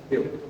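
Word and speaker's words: but: लेकिन यहां केमिस्ट्री में ब्यूट बोला जाता है। क्या बोला जाता है बेटा? ब्यूट।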